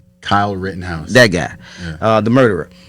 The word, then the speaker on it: Rittenhouse: Wittenhauer? Kyle Rittenhouse.